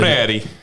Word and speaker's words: Freire: Freire. Not- That's how he actually Yeah, pronounced no it.